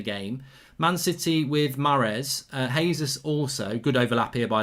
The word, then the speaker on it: Jesus: In Spanish, a J is pronounced H. In Portuguese, a J is like the English J. Gabby, Jesus, Jesus.